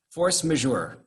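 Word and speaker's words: force majeure: called force major right i know i'm pronouncing it properly because i specifically went online and found a place where they gave you here's how you here's how you pronounce these words force measure i spent a lot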